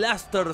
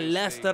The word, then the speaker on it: Leicester: Y aquí tenemos al 11 que presentamos contra el Ler City, este equipo que la está rompiendo. En la realidad se pronuncia Laster, así es el fonema, hay muchos cosas muy